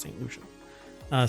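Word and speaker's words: Saint Lucia: Yeah, Barbados, St. Lucia or Lucia? St. Lucia. That's how it's pronounced, St. Lucia.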